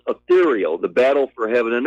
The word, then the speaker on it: Ethereal: The Real. It's pronounced Ethereal, The Battle for Heaven and Earth.